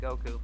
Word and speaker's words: Goku: pronounces Goku yeah yeah when saying Goku puts all the emphasis on the coup yeah like I'll just